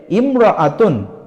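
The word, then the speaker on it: امرأة: বিষয় দেখেন উচ্চারণের ক্ষেত্রে ইমরতুন এই শব্দটার শুরুতে হামজা আছে এই শব্দটাকে যখন আমরা এককভাবে উচ্চারণ করব তখন হামজা যুক্ত করে উচ্চারণ করব যেমন কিন্তু এই ইমরতুন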